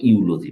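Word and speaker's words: eulogy: এটার উচ্চারণ হলো ইউ, হ্যাঁ, এটার উচ্চারণ হলো ইউ, মানে ভেড়ার স্ত্রীলিঙ্গ ইউ, হ্যাঁ, এটা উচ্চারণ হলো ইউলজি, মানে প্রশংসা।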